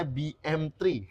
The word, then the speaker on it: BM3: Ini bacanya bukan BMB ya, ini bacanya BM3.